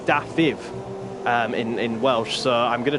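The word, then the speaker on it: Dafydd: Spencer, that it's actually pronounced Dafiv in Welsh.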